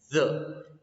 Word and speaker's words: the: You don't have to pronounce the. No, not with the D sound. No, not with the D sound. You have to pronounce it by keeping your tip of the tongue in between of your front teeth.